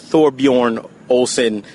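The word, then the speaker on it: Thorbjørn Olesen: It's Thorbjorn Olsen. That's how you pronounce his name.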